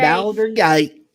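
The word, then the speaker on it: Baldur's Gate: said Baler Bal Boulder how do you say it yeah B Boulder Bower B gate Bower gate Bower gate that's how stupid absolute says it y'all want to play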